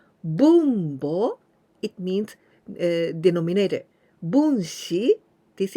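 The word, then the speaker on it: 分母: Bunbo. This bo, it is haha. It means mother. Bunbo, it means denominator.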